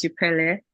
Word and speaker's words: Upele: So I guess you got the pronunciation correctly. So it's Upele, and yeah, all you said about me is